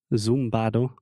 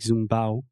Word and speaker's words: zumbado: worksheet they explained okay this is actually zumbado and we say it like zum bao and it's a very